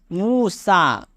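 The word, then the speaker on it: موسیٰ: इसमें ये लिखा तो जाता है लेकिन पढ़ा नहीं जाता। जैसे हमने लिखा मूसा, इसमें ये पढ़ा नहीं जाएगा, ये साइलेंट है।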